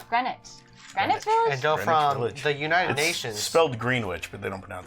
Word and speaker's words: Greenwich: to do Soho to Greenwich Village. Well, I'm gonna take these 2 blacks right here Greenwich Village? Greenwich? Greenwich. Village? Greenwich Village?